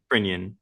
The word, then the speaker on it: Crinion: How do you pronounce your last name? Crinion, Crinion. Okay. like onion.